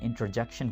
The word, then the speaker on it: interjection: लोग गलती क्या कर देते हैं, वो इसको इंटरजंक्शन बोल देते हैं, जो कि बहुत गलत है। ये है इंटरजेक्शन, याद रखिए, स्पेलिंग याद रखिए, इंटरजेक्शन।